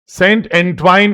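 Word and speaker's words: Saint Antoine: अब देखो, सेंट एंट्वाइन इसको प्रोनाउंस करते हैं।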